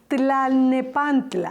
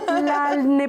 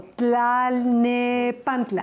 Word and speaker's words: Tlalnepantla: Yo traté de pronunciar de corrido. Decorrido. Tlalnepantla. Bravo. Talne, pero es que ayer hice el trabajo. Tlalnepantla.